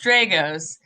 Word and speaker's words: Dragos: Pamela Dragos back. I just asked her how to pronounce her last name again, how she prefers to have it pronounced. So it's Dragos.